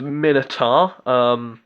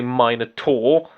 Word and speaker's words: Minotaur: initials nearly done no I am NOT pronouncing it as Minotaur I'm British so I say mine at all my mind at all